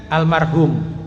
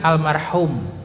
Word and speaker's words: almarhum: mengucapkan almarhum Nah kalau kalau orang kita kan almarhum pakya ha juga bacanya almarhum kan gituah Yang betul kan almarhum makakya ha almarhum artinya yang dirahmati cuman ketika